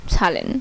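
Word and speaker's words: Zahlen: ওকে, তারপর হচ্ছে জেট, জেটের উচ্চারণ ছয়ের মতো হয়, জেটের উচ্চারণ ছয়ের মতো হয়, যেমন ছালেন, ছালেন।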